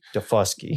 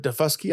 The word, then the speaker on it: Daufuskie: So it's from South Carolina uh off of Defusky Island. And we we looked it up. If you're wondering, it's Deuski. Is Defusky with an emphasis on the second.